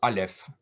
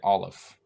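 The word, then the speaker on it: אלף: own accent so most people will instead of saying something like uh alef they'll just say olaf and instead of um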